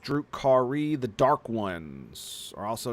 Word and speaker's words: Drukhari: Drukhari, pronounced Drukhari.